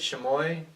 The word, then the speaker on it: chamois: Chamois, CHAMOIS.